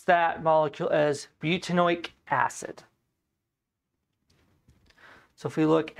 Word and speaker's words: butanoic: So we would pronounce that molecule as butanoic acid.